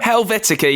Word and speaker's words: Helvetica: I'm really scared I'm going to pronounce it wrong, so do correct me if I say it wrong. Helvetica? Helvetica, yeah.